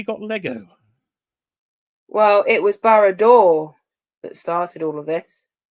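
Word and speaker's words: Barad-dûr: Well, it was Barrador that started all of this. Yeah, Did I pronounce it right?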